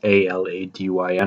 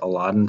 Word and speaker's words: Elodin: I know some people pronounce it like Aladdin, like Aladyn or whatever, but I pronounce it Elodin, so I'm gonna go with that against realistic quarters.